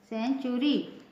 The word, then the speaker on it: century: NATURAL, इसमें भी TU आया है, इसका प्रोनाउंसिएशन क्या होगा? नेचुरल। CENTURY, सेंचुरी, बीच में इसमें भी TU आया है इस वर्ड में।